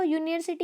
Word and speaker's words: university: The U at the beginning of university sounds like U.